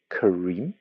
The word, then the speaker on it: Kareem: in general it's because they don't pronounce the R the same way in between vowels. So it can't be Kareem that I spell my name in Korean. I have to spell it.